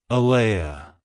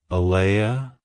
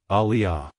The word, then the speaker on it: Aleah: exalted it's pronounced as ala ala ala to pronounce it correctly emphasize the Lee sound and end with a soft uh sound avoid pronouncing it as Aliah like hello ala goodbye